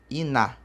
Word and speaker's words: iná: Iná escreve-se I-N-A e acento. Então, Iná. Iná está escrito. Iná significa fogo. Então, separando ali, ó. Iná. Termina em vogal? Sim. Tem um N antes? Sim. Então, é uma vogal nasal terminada em A.